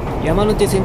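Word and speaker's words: 山手線: 山手線と書いて山手線と読む。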